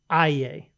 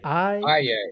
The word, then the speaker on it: Aillet: Usually the T throws people off.